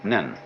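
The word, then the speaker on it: 念: they have a very interesting sign this it's pronounced n in Japanese nen and the top part of the character uh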